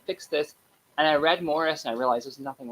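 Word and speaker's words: Maurice: out after his death so spelled like morrice in America said like Morris in Britain and um I think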